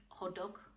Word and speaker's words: hotteok: deck is really good hodok sounds like Hodor that's how I remember it like Hodor ho hodok